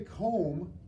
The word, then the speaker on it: comb: picture of a coal when you say comb it's you don't hear this be at the end a comb even though it ends with the MM of the Emma consonant so there's actually a B that's silent so why does it